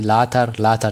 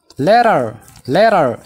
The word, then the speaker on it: later: Egaa seera pronunciation keessatti ni barannaa garuu qubeen taa yoo qubee dubbachiiftuu lama gidduu dhufte. Amma fakkeenyaaf taan kun a fi i gidduu dhufte taa kana gara daatti fudhanneeti kan dubbisnu.